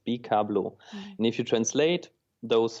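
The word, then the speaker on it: Bikablo: And if you take the first syllables of those words and put them together, it's bablau.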